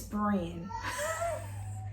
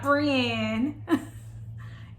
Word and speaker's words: Bryn: It's Bryn. Not Brienne.